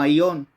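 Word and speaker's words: αἰών: de un término griego que se pronuncia como aion que quiere decir fuera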